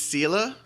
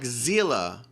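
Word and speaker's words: Seele: mihoyo just schooled us is Sila z e no it was like zela like a z foreign the lives of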